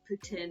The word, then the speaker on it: poutine: live in ottawa literally on the quebec border putin is the french pronunciation so i've just kind of fallen into